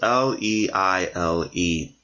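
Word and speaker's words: Liele: gentleman named George Leile, I believe his last name is pronounced Leile, who was a slave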